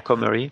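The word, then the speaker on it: Cormery: man's protagonist, Jacques Comery, is that how you pronounce the last name? Mm-hmm. Comery? Yes. Yeah. Comery.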